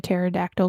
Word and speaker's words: pterodactyl: can't you hear a pterodactyl going to the bathroom why because the p is silent I love it Dino